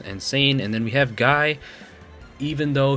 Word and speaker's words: Guy: and then we have guy even though his name is pronounced ghee apparently at least according to